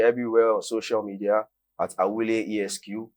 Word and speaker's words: Awuley: can catch me everywhere on social media at Awuley ESQ. Awuley is spelled AWULEY, then ESQ Esquire.